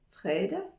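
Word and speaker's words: fredag: et et puis vendredi Fred comme le mot frais c'est frais il fait frais Fred et le toujours le DA Fred Fred on passe au weekend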